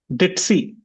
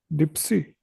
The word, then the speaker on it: ditzy: Ditzy, Ditzy. Dipsy. See the spelling. Ditzy. You're saying per. You're using a P.